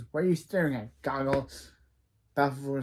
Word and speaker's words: Balfour: Balfour. Come on, Colosso. You could have gotten a better name. His name rhymes with Falcor from Neverending Story.